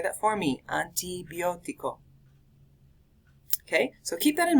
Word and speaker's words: antibiótico: Make sure that you pronounce them with Spanish pronunciation rather than English pronunciation.